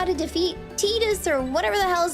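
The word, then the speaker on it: Tidus: It's Tetus cuz it's based on the Okinawan word for sun if I recall correctly.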